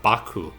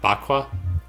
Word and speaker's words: Baku: Bakwa? I would say either Baku or Baku. Alright. The A is just silent.